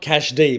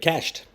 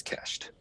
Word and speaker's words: CashD: think the growth is today so it's not cash d but cashed that's exactly right now a lot of people do say cached d however um the correct pronunciation is cached oh well i'm glad i'm glad we sorted